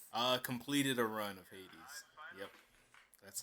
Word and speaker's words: Hades: yeah i finally uh completed a run of hades yep that's how you say it and i